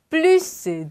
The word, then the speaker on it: plus: 확인해보면 자, plus de moins de, autant de. 포인트는 S 발음해주고 여기 OC가 아니라 autant. 그리고 동사의 비교급도 plus, moins, autant을 사용해서 표현을 해주는 것. 그래서 꼭 S를 발음해 준다.